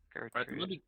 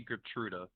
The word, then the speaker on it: Gertruda: Gertrude. I think it's actually Gertruda because there's an A at the end. I can type it. There you go. Gertruda. I think it's Gertruda, which is a weird name, but yeah, Gertruda.